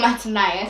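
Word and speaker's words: Mattaniah: ruling age, his uncle Matana, I think that's how you pronounce his name, started ruling. But the Babylonians changed another person's name to Zedekiah. Changed Mataniah. Oh, Mataniah. Sorry, it's not Matan. Mataniah to Zedekiah.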